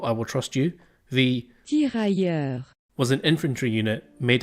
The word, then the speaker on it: Tirailleur: Right, hold on, I want to be respectful and not mess up the pronunciation. Tirailleur. Okay, thank you Google, I will trust you. The Tirailleur.